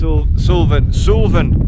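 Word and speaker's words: Suilven: I was hoping, that is Sulven, that's how you pronounce it.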